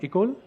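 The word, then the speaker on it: école: Intuit lab in Mumbai is that how you pronounce it ikol yeah in most of a books City and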